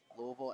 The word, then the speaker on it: Louisville: that's how you say it by the way Louisville and I'm gonna ask all the kids I